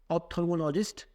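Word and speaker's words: ophthalmologist: तो इसको बोलेंगे ऑप्थेल्मोलॉजिस्ट, हिंदी में नेत्र रोग विशेषज्ञ।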